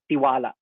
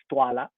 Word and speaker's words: tiwala: uh jeffrey reyes actually i thought it initially it was this uh pronounced tiwala apparently it's stuala and so that's our